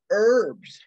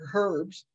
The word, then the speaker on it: herbs: A lot of the herbs or herbs, both are correct ways to pronounce that.